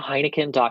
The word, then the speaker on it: Heinichen: you I meant Heineken calm my name is pronounced like the beer but not spelled like